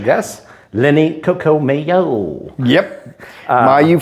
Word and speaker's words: Mayeux: Yep, Mayeux from the Bayou.